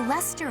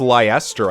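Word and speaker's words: Leicester: the corner here the Lester Alliance is beveren through roundtable conferences between the five most prominent Allied Dukes the five great Lords it's actually pronounced leister I thought it was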